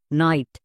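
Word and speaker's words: night: এর জন্য আইট একসঙ্গে করো দন্তন্য প্লাস আইট নাইট এখানে কোন রুলস মনে রাখতে হয়েছে একদমই না এখানে কিন্তু জি এইচ সাইলেন্ট বাট আমাদের সাইলেন্ট লেটারও মনে রাখতে হবে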